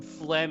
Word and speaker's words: phlegm: I think there's some phlegm at the beginning there. Phlegm, as it happens, is the second word because the G is silent, which is weird.